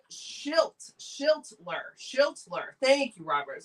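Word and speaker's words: Schlittler: Robert says pronounced Schilt. Shiltler.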